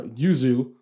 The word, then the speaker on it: Yuzu: her name again uh usually usually you just say uzu if you want but usually i'm gonna say yuzu because like yeah you're boy not good with that so uh yuzu uh he said uh